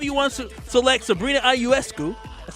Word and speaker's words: Ionescu: Whether you want to select Sabrina Ionescu, that's how you say it, right?